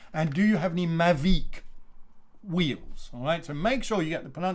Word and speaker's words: Mavic: a french brand and this is mavic mavic and you will know you just imagine there's a kind of v double e k sound v all right so